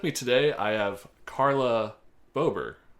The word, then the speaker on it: Bober: I have Chris Ober on the show all the time and your name is literally his name with a B on it.